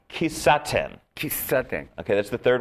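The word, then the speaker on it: kissaten: Kisaten. Kisaten.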